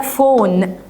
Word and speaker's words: phone: البي اتش ينطق زي حرف الاف، فبقول لك فون.